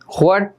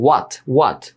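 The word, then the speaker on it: what: Nusrat Jahan, হোয়াট, হোয়াট ভুল, হট না, এটার উচ্চারণ সঠিক উচ্চারণ একটাও না, হট না হোয়াটও না, ঠিক আছে, দুইটাই ভুল। সঠিক উচ্চারণ হচ্ছে ওয়াট, ঠিক আছে।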